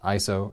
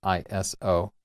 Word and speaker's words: ISO: Believe it or not, it is pronounced ISO and not ISO.